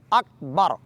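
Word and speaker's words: أكبر: हा को भारी पढ़ेंगे उसके बाद है अकबर अक की काफ को बारीक पढ़ना है और मतक और मुतहर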